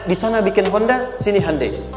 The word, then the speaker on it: Hyundai: Kita bisa kita dari tekad sehingga ketika di sana bikin Honda sini Hande Hyundai kan dibacanya Hande ya kan sana Honda